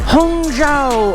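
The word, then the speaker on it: Hangzhou: Hunga. Hung is how you pronounce it.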